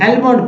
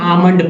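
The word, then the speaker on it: almond: L silent है और आमंड आमंड एलम पढ़ते है लोग पढ़ते एलम एल मड जो कि गलत हो जाता है आंड एल चक साइलेंट है एल साइलेंट इसलिए आमंड पढ़ेंगे ठीक है आमंड पढ़ेंगे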